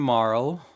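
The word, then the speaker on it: Marle: you have the song chrono and marl that's how i pronounce her name chrono and marl far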